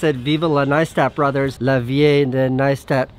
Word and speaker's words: Neistat: It's pronounced Neistat. Nice, like rice or ice or mice.